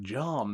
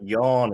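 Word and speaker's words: Jan: John. I think it's John. Evening, gents. Yawn. It's Yawn. He's one of them. He's one of them Germans.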